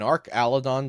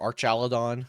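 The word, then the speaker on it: Archaludon: so we've got a an arc aladon deck or Arch aladon I think I discovered as the pronunciation uh Our chadon Deck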